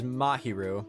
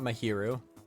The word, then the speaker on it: Mahiru: I think the correct pronunciation is Mahiru, not Mahiru.